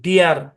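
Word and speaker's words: dear: ডিয়ার। কি উচ্চারণ?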